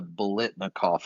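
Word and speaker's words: Biletnikoff: Um and then he won the uh I want to mispronounce the heck out of this. The Blitnikov award. Blitnikov.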